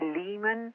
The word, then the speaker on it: Lehman: and so it was a man named Ernie Lehmann he wants to be called lay no his